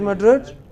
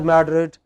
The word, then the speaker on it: Madrid: Where is Madrid? Spain. The capital of Spain. Okay? So in English it is pronounced not as Madrid but as Madrid.